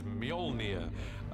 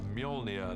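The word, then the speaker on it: Mjölnir: is to work out how to pronounce it which is Mjolnir in our movie at the moment till somebody corrects me I'm sure they will Mjolnir the hammer this awesome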